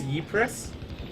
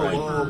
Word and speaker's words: Ypres: It's Ypres? Ypres, but British soldiers pronounce it Whoa, Vipers.